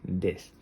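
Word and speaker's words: です: Recordad que esta u no suele pronunciarse. Suele ser una u suave, a veces la veréis más fuerte, más suave, pero por lo general es tan suave que no se pronuncia. Prácticamente se lee des.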